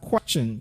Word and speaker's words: question: Now, also, letter T can give us the sound ch. Like when you have this special word, which is pronounced as question. Can you say question? Say, I want to ask a question. Some people would say question. That would be wrong. You should say question.